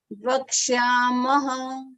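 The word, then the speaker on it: वक्ष्यामः: Vakshyamaha. तो म के बाद वो जो दो डॉट्स है ना, that is visarga. Okay, that you have to pronounce it as maha.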